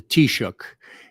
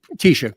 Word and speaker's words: Taoiseach: it like a real Irish person, but the Taoiseach is the prime minister. And it was a guy named Leo Varadkar, who was the first gay and, Asian let's just say Taoiseach, Prime Minister of Ireland.